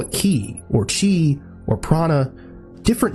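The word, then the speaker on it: 気: They use terminology so-called ki. Chinese pronunciation chi, Korean pronunciation ji.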